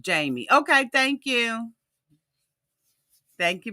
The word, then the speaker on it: Jeymi: I just think that it's pronounced Jeymi.